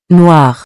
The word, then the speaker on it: noirs: The noun here is masculine and plural, so noir becomes noir. The thing to remember is that the S is only there in writing, we don't pronounce it when speaking.